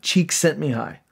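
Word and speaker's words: Csikszentmihalyi: the name yves hungarian his name is Mihai cheek sent me hi yes you can't spell it but I practice that I looked it up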